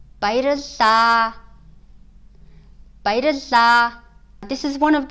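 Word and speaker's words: Баярлалаа: You may have seen spelling like Bairilla, but it's actually Bairilla when you say it. The reason why it's spelled that way is because it's written Bairilla in Cyrillic, but the short A is not pronounced.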